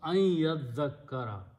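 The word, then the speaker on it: أن يذكر: So, now the word becomes an yazzakkara, and when you pronounce ya and nun, you pronounce here adgham, so it becomes ayyazzakkara.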